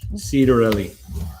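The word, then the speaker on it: Ciattarelli: assistant minority whip he's telling us how to pronounce it cedarelli cedarelli thank you that was way off cedar really thank you went to seton hall for his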